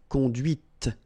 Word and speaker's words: conduite: And that's when you hear the difference between conduit, because remember, final T is not pronounced, conduit, here, and then the feminine, conduite. Okay, so here you can listen to this t, t, okay, conduite, all right?